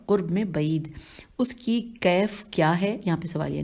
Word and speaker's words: کیف: میں بعید۔ اس کی کیف کیا ہے؟ یہاں پہ سوالیہ نشان ہے۔ کیف کے ہجے ہے، کاف یہ فے اور کاف کے اوپر زبر ہے۔ اس کی کیف کیا ہے؟